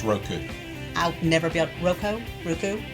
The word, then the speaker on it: Roku: also watch it on riku it makes fun every time attention i thought i had said it right this whole time yeah it's roku i've never built roko